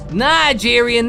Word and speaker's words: Nigerian: They were saying he said, but if he said Nigerian, he would have pronounced it Ni, not Ni. That's a good point. That's a good point. Nigerian, not Ni-gerian, unless he was saying it wrong.